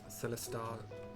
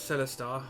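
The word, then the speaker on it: Celestaux: I'm pronouncing it that way because it's Charlie E-L-E Sam Tom A-U-X. And I believe X's in this region are pronounced as like like French, the French X, I think, I don't know.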